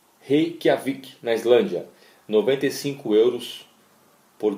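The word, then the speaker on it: Reykjavík: Como é que se pronuncia essa cidade? Reykjavik. Reykjavik, na Islândia, 95 euros por dia.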